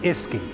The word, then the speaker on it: uisce: As the word Uisce Beatha became anglicised, it shortened to Uisce, pronounced Iski, which then was pronounced Fwisky, and eventually the English language, whisky.